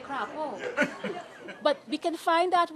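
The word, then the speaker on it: crapaud: How do you pronounce it? I say crapo. You say crapo.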